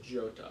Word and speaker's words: Jota: I think because he's Portuguese, it's Jota. Jota? Yeah, because they pronounce the J.